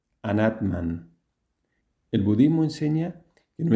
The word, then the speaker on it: anatman: En sánscrito, la forma correcta de pronunciarlo sería la siguiente. Nirvana. 5. Anatman.